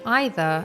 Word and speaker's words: either: one of the words most Brits and Americans pronounce differently most Brits would say either and most Americans would say it has Eva however nowadays people just choose whichever pronunciation they feel comfortable saying they are both correct can you identify which